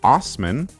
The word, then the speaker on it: Assman: Well, this jolly good dick's surname is of German origin and is pronounced Osman.